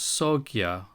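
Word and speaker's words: Sangha: Dharma as the law sa in India is pronounced soia and in China is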